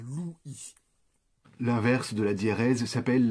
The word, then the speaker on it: Louis: On ne peut pas avoir le prénom du roi qui ne fasse qu'une syllabe, on va donc avoir Louis.